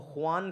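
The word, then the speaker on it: خوان: तबारक व ताला की जिसको खान कहते हैं वैसे ख वाव अलिफ नून लेकिन वाव को साइलेंट करके खान पढ़ा जाता है।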